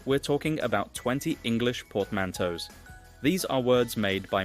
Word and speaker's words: portmanteau: Portmanteau.